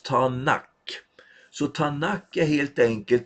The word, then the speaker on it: Tanak: Om du tar den första bokstaven ifrån vart och ett av de här orden, då får du T, N och K på hebreiska. Och det uttalas Tanak.